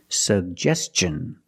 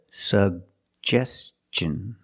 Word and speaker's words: suggestion: and up S sug we have two G's and we're going to pronounce both of them the first G is a hard G sound sug and the second G is the J sound like juice and jump pronounce both sugest suggestion and TI n the T makes the CH sound so together suggestion suggestion put the stress on the second syllable he made a suggestion